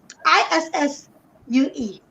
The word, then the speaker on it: issue: ISSUE. Now, our people call it the way it is spelled, but that double S, if you look in the dictionary, it's a sh sound.